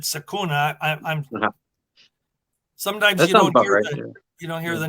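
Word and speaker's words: Secuna: George yeah yeah well the Sakura was just s-e-c-u-n-a yeah so I just pronounced it sakuna I'm you don't hear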